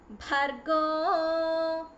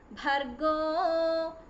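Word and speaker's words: भर्गो: Okay, so if you take it simply, Om Bhur, not Bhur, Bhur Bhuvaswaha, not Bhuvaswaha, Tatsaviturvarenyam, not Renyam, Tatsaviturvarenyam, Bhargo, not Ba, Bhargo Devasya Dhimahi, it is Dhimahi, Dhiyo, Dhiyo Yonah, Yonah Prachodayat.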